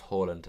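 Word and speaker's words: Haaland: live in norway switch now it's pronounced holland okay i'll try remember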